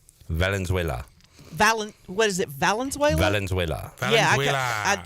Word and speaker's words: Valenzuela: Valenzuela. Yeah, I always want to say Venezuela because that's as close to how I can pronounce his name.